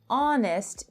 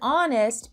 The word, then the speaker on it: honest: Number 7, Bernard was an honest man. The word honest begins with a consonant, but again, it has a vowel sound. The H is silent.